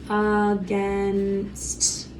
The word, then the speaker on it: against: Against, against, against, against. And again, it's making a U sound at the beginning, but it's actually an A.